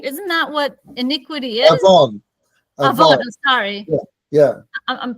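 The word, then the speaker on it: עוון: I thought awun is the, or awun, I don't know how to pronounce it.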